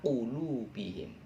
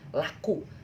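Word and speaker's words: قلوبهم: Ketika saya membaca kata ala qulubihim, yang terlintas teman-teman laku. Alaku, laku, ala qulubihim. Tapi jangan laku, ala qulubihim, karena ini qaf ya, bukan kaf ya.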